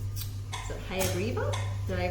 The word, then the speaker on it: Hayagriva: Is it Hayagriva? Did I pronounce that correct?